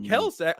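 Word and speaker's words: Kelce: I think it's pronounced Kelsey.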